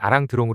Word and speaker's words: Alain Delon: 경유하여 우리나라에 수입되었다 그래서 우리들은 알랭들롱 일본식 발음인 아랑드롱 불렀다 그 시대 알랭 들롱이